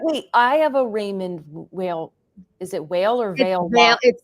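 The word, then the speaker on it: Weil: I have a Raymond whale is it whale or Veil it's it's I can't do the pronunciation correctly but it's we i l and it's pronounced like Veil like it's like a WV sound like I can't I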